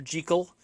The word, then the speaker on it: Jekyll: It stars Frederick March as Dr. Jekyll, as it's supposed to be pronounced, and Mr.